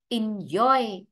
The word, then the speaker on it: enjoy: Enjoy, enjoy. Vậy ở ấm thì thứ hai ta cảm nhận có nguyên âm đối là oi, oi, oi. Vậy trọng âm rơi vào nó.